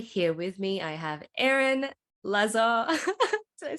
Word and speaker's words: Aeron Lazar: Today, here with me, I have Aeron Lazar.